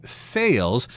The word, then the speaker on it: sale: That word sounds very similar to the verb to sell. Okay, to sell, that's the verb. They sell things at special prices at sales, so be careful about the pronunciation of those vowels there, sell and sale.